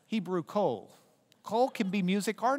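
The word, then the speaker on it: קול: You don't pronounce the vav here. It just has an O sound. It takes a vowel sound. Then you've got the L at the end, kol.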